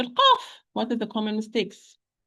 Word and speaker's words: ق: Now we are going to talk about letter qaf. What are the common mistakes? Okay. Number 1, qaf. We said qaf and kaf. They are pronounced from the back of the tongue.